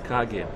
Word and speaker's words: Kage: I thought it was Cage, but they told me it was Kage. I guess Cage would be spelled with C.